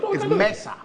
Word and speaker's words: Mensah: When we go offset, I would teach you how to pronounce my surname properly. Okay. It's Mensah.